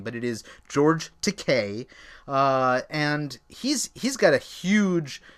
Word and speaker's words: George Takei: I always mispronounce his name, but it is George Takei, and he's got a huge following on social media.